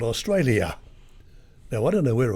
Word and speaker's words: Australia: there's an alien there you've got to pronounce the yell you don't have to highlight it you just pronounce it put it there it's not meant to be highlighted another one the use